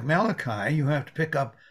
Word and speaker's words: Malachi: to pronounce thank you malachi some say malaki but not in our part of the world and the name means